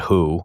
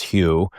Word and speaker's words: Hu: Most people call it Who, even though it's Hugh.